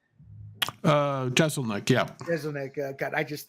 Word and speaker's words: Jeselnik: Jeselnik, yeah.